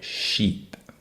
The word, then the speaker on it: sheep: I sound and lastly we have Sheep with a SH sound and a long e sound sheepep chip ship Sheep